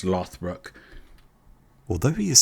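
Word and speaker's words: Lothbrok: o d BR R OG but it gets pronounced lothbrook although he is said to have claimed descent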